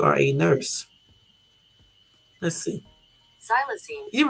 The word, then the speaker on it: xylazine: X sounds like Z. Xylazine.